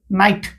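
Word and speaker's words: knight: এটা দেখছেন এ নাই তারপরে নাইট এটা এ পুরা সাইলেন্ট রইলা নাইট রাতি তারপর দেখতো এ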